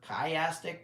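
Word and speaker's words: chiastic: The access of that kastic structure, kayastic might be the way to pronounce it.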